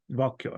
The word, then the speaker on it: Walküre: I'm pretty sure it's pronounced Walküre. Is that how it's Walter. pronounced? Walküre.